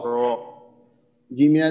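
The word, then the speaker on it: الرجيم: তো এটা মাদ্দে আসলি তো এই মাদের হরফের পরের হরফে যখন আমরা ওয়াকফ করতেছি তখন এটা হবে মাদ্দে আরজি তিন আলিফ টানজি হ্যাঁ তাহলে রজিম রজিম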